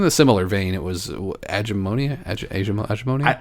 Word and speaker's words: Agemonia: It was Agemonia. I think it's pronounced Agamonia.